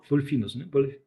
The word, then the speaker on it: Polyphemus: Polyphemus.